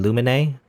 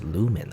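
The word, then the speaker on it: Lumine: illuminae by the way the main character's name luminae i think that's wrong i'm saying it wrong i think it's a lumen lumen you know that sounds weird up to me i always think in my head luminae that's not right it's lumen apparently lumen lo mine something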